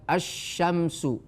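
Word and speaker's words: الشمس: qamariah eh huruf sysiah itu Alif lamnya tidak terbaca seperti kalimat asyamsu ya Arrahman azzainu dan seterusnya dan seterusnya itu padahal ada Alif lamnya t tapi tidak terbaca itu yang disebut alif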